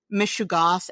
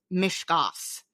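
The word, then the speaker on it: mishegas: In that episode, you pronounced mishugas as mishgas. There are 3 syllables, not 2.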